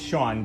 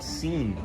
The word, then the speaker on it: Sean: To me, my name is Sean, but it's spelled S-E-A-N. So Right. I get called Seen a lot.